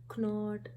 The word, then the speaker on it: knot: is cannot know art knot no k is silent that means no sound of k and then it will